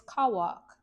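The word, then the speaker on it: Cauac: All right, page 114 and it reads pronunciation is kawwok.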